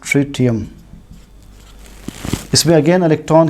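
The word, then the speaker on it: tritium: Third isotope है ट्रिटियम, इसे pronounce करते हैं एस ट्रिटियम।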